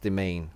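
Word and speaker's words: demesne: domain the domain domain this word is pronounced the main by the way M it took me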